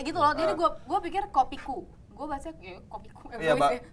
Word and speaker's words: Kopi Koe: Jadi tulisannya kopi koe, dibacanya Kopiku.